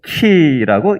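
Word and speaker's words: Χ: 영문 알파벳 X가 아니라 헬라어 알파벳으로 키라고 읽습니다. 어디 가서 모르는 사람들한테 유식한 척 해보세요. 따라해보세요. 키. X가 아니라 키예요.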